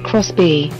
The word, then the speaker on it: Xbee: the hustle a minivan the xbe pronounced Chris B takes the form of